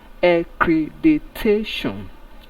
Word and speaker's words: accreditation: So by pronunciation, accreditation.